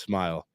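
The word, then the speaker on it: Smael: spelling really yeah s m a l just pronounced smile well yeah interesting and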